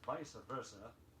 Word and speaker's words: vice versa: Two Latin expressions now which are pronounced in the English manner.